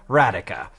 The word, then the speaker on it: Radika: Like radical without the L, Radika."